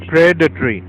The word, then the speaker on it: predatory: प्रे, इसको तोड़ के देखते हैं इसका प्रोनाउंसिएशन से ही, PRE, प्रे, date, DAT, date बोला जाएगा, टोरी, TORY। तो अब इसको प्रे पे स्ट्रेस देंगे, प्रेडेटरी, प्रेडेटरी।